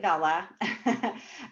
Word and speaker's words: Vella: be here and talk about we we do pronounce it Vela um but yeah they're here to talk about Kendall Bella so um for those who aren't familiar kendavella